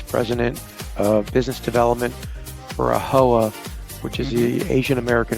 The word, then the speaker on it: AAHOA: What are the things that AAHOA, is that how you say it?